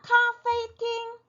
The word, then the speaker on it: 咖啡厅: 자, 카페팅, 카페팅, 네, 커피숍이에요. 카페를 카페팅이라고 말을 합니다. 기억하시기가 굉장히 좀 편하시죠? 뭔가 좀 발음들이 네, 그렇게 막 멀지 않아요.